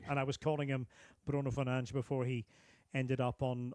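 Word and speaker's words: Bruno Fernandes: player in in England, Bruno Fernanch. You know, that's how he says his name. Not Bruno Fernandez, Bruno Fernanch. So, he goes to England and a decision is made.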